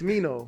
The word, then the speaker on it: Smino: You try to say like Smurder, but now it's Smino.